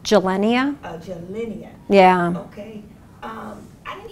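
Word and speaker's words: Gilenya: we talked about, can you pronounce that for me, please? That's called gelenia.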